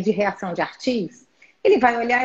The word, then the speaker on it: Arthus: A gente já tem tanto anticorpo que chama reação de imunocomplexo tipo 3, que é a reação de Artis. Se escreve ARTHUS.